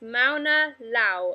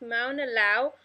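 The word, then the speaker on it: Mauna Loa: of volcano example of a shield volcano is Mauna Lao I'm not sure how to pronounce that but I think it's Mauna Lao on the Hawaiian Islands and a shield volcano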